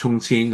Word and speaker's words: Chongqing: Now Chongqing is over here. Okay. Now this pronounced Chungqin.